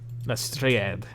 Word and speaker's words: Lestrade: Yeah, you find, while inspecting the body of Catherine Lestrade, Lestrade is how it's pronounced.